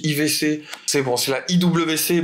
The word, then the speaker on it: IWC: de cette collection la IWC la chrono big pilot édition désert morav moi j'avais je ne sais pas comment on dit désolé pour la prononciation on dit pas i WC on dit IVC c'est bon c'est la